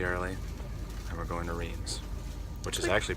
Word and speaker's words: Reims: okay it's ridiculously early and we're going to Reims which is actually pronounced Vince it's like 7:45 at home 27 yes people